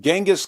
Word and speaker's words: Genghis: Bibi Netanyahu said that Jesus is no better than Genghis Khan. Yeah, I said Genghis, not Genghis. Why? Because I learned the correct pronunciation from the greatest history presentation of all time.